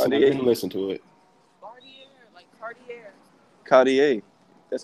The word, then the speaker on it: Cartier: I saw this and even listen to it Cartier that's how you pronounce it yeah it's a body a card